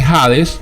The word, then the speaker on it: Hades: cuando en la Biblia aparece jades que se escribe con h Hades soy en hebreo la